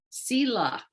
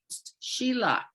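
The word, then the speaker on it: sīla: They were Sila, S-I-L-A, or sometimes pronounced Shila, Sila, which means the moral compass, the eightfold path.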